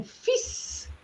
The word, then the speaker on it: fils: Okay, the first one is à mon fils. So the L is silent, mon fils.